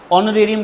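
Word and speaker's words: honorarium: तो उनको आने की मैंने क्या की पेमेंट दी तो उनको क्या किया मैंने ओनरेियम पे करा ओरेरियम कहते हैं इसको वैसे एच साइलेंट रहेगा ओनरेियम पे करना समझ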